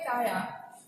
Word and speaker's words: काया: शब्द है काया, देखो ये आया है, लेकिन इसका उच्चारण हिंदी में भी क्या हो रहा है, काया, और उड़िया में भी हो रहा है काया। ये काजा नहीं हो रहा है, ठीक है, क्योंकि ये बाद में आया है, आरंभ में नहीं